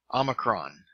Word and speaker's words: omicron: Omicron, the O as in hot, so a short O sound.